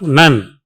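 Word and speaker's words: Nuhn: In the anterior 2/3, glands of Nun, N-U-H-N. H is silent.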